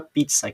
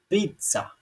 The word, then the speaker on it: pizza: A sílaba tônica da palavra pizza é essa daqui, ó. Pizza. Veja que eu falo mais alto ela do que essa daqui.